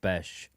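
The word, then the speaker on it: Bech: on Jack B it's that's how it's pronounced bash uh even though it's B CH uh he doesn't drop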